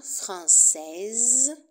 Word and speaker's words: français: exemple français et féminin française anglais et le féminin anglaise attention à la prononciation du masculin au masculin on ne prononce pas le S français anglais et le